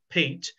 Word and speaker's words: Piet: as he addressed him the dutch pronunciation was pete mondrian so he changed his